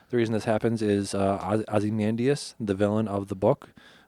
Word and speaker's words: Ozymandias: Ozymandias? Okay. How would you say it? Is it with an O? Yeah. Okay. Then you said it right.